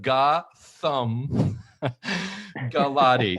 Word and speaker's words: Gautam Gulati: So first of all, I love how you say pronunciation, because I like the Ga-Thumb Ga-Lotty.